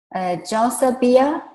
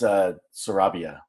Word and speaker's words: Sarabia: And can we ask Josabia? Am I pronouncing your name correctly? Hi, it's Sarabia. Sarabia, okay, Yeah, sorry.